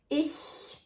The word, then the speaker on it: ich: Which way is it correct? Ich is the right pronunciation here. Other examples with this pronunciation of ch are Licht, Küche, Milch.